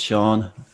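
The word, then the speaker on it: Seán: a gaelic name so in gayle you have accents and sean has an accent on the a so it's sean and my name is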